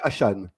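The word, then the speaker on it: Achane: Il m'a dit, non, mais on dit Devon Achan. Hachan. Donc, on dit Achan.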